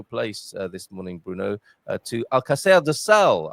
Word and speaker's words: Alcácer do Sal: this morning, Bruno, to Alcácer do Sal. I think I've pronounced it correctly now. You pronounced it correctly, yeah. Alcácer do Sal, yeah.